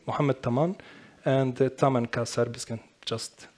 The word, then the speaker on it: Mohamed Taman: So as my brati just pronounced my name, Mohamed Taman, and Taman ka serbiskan, just Taman.